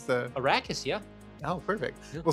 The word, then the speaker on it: Arrakis: Did I pronounce the... Arrakis, yeah.